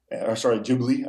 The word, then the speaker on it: Ghibli: Ghibli, I guess, to pronounce it correctly.